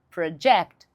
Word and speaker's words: project: Mas se você mudar a sílaba tônica e for pra segunda sílaba da ênfase, na segunda sílaba, vai ficar assim, ó. Project. project, que significa projetar, mudei o significado da palavra.